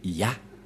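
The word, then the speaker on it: יה: La prononciation de ce terme est ceci, c'est Ya.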